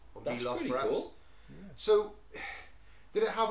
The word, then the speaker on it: Milos: aan island of Milos I think it's pronounced Milos per so did it